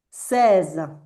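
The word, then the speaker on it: seize: 16 se va a decir ses y se pronuncia como lo voy a poner acá, muy parecido al 13. Ses, s s ses.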